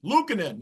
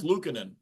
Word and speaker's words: Luukkonen: It just took me a while to learn how you properly pronounce UPL's name. Ukko-Pekka Luukkonen. Luukkonen, yeah. I don't know if I pronounced the first 2 parts right, but yeah, it's Luukkonen.